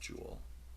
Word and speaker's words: Joel: give up jewel erickson i don't know why his name is pronounced jewel spell joel uh do you would